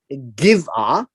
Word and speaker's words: Gibeah: It's actually pronounced as Gibeah.